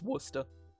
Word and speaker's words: Worcester: No, it's Worcester. Yeah, that cest, that whole syllable that's in there. Like, no, you don't pronounce it.